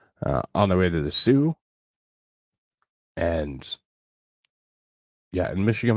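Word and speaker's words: Soo: the way to the Sue and yeah in Michigan we call it the Sue oo because nobody's spelling out Salt St Marie uh so it's t h s o o the Sue uh good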